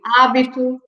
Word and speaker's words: hábito: So we don't pronounce the H. We say hábito.